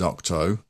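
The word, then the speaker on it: Ahch-To: now know that connect the correct pronunciation of this island is octo I mean as in eight doctors I can't say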